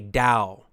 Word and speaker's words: Tao: It's spelled with the T, T-A-O, but then we say Dao. Why is it? Well, it's because it's not English. It's a Chinese word.